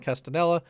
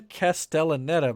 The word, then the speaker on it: Castellaneta: alongside the former fox property stalwart cast dan castanella castaneda dan castellaneta that's a i wish people had easier pronouncing names that's for sure he plays homer